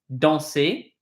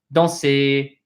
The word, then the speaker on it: danser: Pronunciation point, this ER, when it's the last two letters of a verb, of a word, excuse me, they will say A.